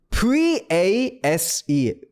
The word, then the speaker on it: vase: 1초만 해서 그냥 face가 아니라 face, face, face 이런 식으로 조금 더 발음이 새어나가는데 익숙해지게끔 연습을 해주시고 그 대신에 V는 그 진동이 느껴져야 돼요.